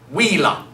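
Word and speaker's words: villa: Remember that V's are always a wah, wah, wah, wah sound, so wheela.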